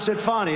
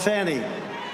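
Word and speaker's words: Fani: Atlanta check this out now fonnie it's called Fanny you have to pronounce fonnie I don't know how she go she should add a little u in there someplace if she wants people to call her no her and her lover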